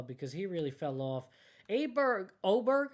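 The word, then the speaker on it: Åberg: Oberg, I think it was. It's spelled Aberg.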